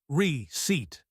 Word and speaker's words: receipt: Receat silent p. So it's receipt psychology that P at